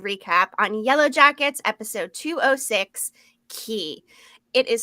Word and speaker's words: Qui: our full episode recap on Yellowjackets episode 206 key it is spelled q-u-i and it means who in French